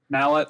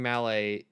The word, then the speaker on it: Mallet: the only like operating mallet in north america mallet i'm sorry you want to say that again